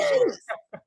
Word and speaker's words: Sheamus: like oh okay whoops I mispronounced his name it's actually Sheamus Sheamus was going to